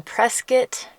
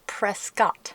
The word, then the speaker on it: Prescott: us we are in Prescot Arizona and just as an aside it is presc not Prescott as in rhymes with biscuit or brisket I will